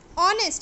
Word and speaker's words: honest: R, H is silent. We are not pronouncing H. Honest, again H.